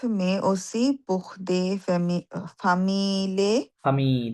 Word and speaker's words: familles: ঘ sportive, Sportifs, mais aussi pour des familles, ফামি, double E silent, familles, ফামি, only ফামি, familles avec অফ, enfants.